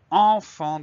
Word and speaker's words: enfant: Dans le mot enfant, il y a deux fois le son en. Le premier s'écrit EN, le deuxième s'écrit AN. Ensuite, le son F s'écrit avec un F. Et enfin, nous avons une lettre muette, le T, qu'on retrouve dans le